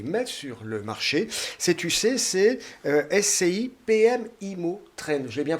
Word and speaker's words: SCI PM Immo Trend: que vous allez mettre sur le marché sais-tu ccsc ipm immo traîne j'ai bien prononcé c'est bien ça c'est exactement ça donc